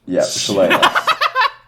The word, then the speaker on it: Shillelagh: Shalala? Lele? Yep, Shillelagh. Okay. Has What 3 is- different pronunciations.